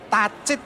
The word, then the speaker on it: tacit: Nah, kalau nanti teman-teman coba dicek namanya Tacit, Mas. Tacit knowledge. Tacit. Tacit ya, T-A-C-I-T. Tacit. Tacit ya, tacit knowledge tulisan.